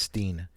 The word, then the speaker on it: Stein: you guys familiar with Alex Stein I think it's pronounced Steen okay he is a